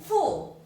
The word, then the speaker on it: 父: Fu. 후. Fu means father, Yeah. and pronounce like this. fu. fu. Fu. Okay.